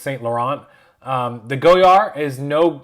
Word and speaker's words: Saint Laurent: pronounced differently saint laurent it's not saint lawrence it's saint laurent the goyar is no